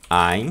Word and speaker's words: ein: Ein significa, a pronúncia é ein, tá?